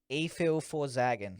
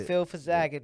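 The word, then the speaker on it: Efil4zaggin: E-Fil for Zaggin. There we go. That's it. E-Fil for Zaggin, man.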